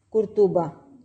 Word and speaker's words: قرطبہ: کہ اس کے اوپر توئیں کے اوپر بھی یہ دیکھیں نا آپ جو ہے وہ پیش ڈلی ہوئی ہے، تو آپ کا صحیح تلفظ جو ہے یہ دیکھیں قرطبہ۔ تو یہ اسپینش کا